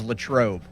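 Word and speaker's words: Latrobe: I think the more professional sounding way is Latroe. But I Lancaster. What if Arnold Palmer thought that's the way it should have been pronounced? Late trobe.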